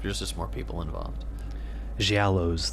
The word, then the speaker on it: Giallows: just more people involved she aloes the correct Italian pronunciation yeah low GI lows soft G and got to use